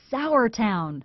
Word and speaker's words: Sauratown: He says the most popular pronunciation seems to be Sauratown. But that's the predominant and the one that seems to carry the greatest attachment in terms of localness.